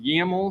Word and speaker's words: YAML: This is pronounced YAML, so this is the Docker Compose.yaml file that we are editing.